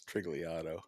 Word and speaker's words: Turigliatto: It's Trigliatto. Trigliatto. Oh, whatever. That's perfect. Trigliatto. You know, Italian names, buddy.